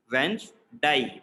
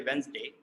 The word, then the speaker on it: Wednesday: course you can contact so like day is like a a sound like why psy day so it is die revenge die whence die but obviously you can even say wednesday not an issue but